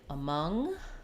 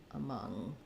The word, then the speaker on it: among: have a u um letter A at the start of words when it's unstressed it's going to have the schwa sound so an ah mom and then we have another stress schwa for the second um the second vowel